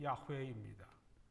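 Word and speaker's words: 야훼: 이것을 이제 다른 성경에서는 영어 성경에서는 여호와 혹은 제호바 이제 번역을 했습니다 원래 올바른 발음은 야외입니다 그다음 하나님 아버지께서 말씀하신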